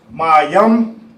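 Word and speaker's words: מים: Water in English is pronounced mayam in Hebrew, and this is how you spell it.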